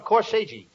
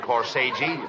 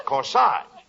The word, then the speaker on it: corsage: I gave each one of them a corsage. No, not corsage. Corsage. That's corsage. Spelled A-G-E is pronounced like odd, as in corsage or garage.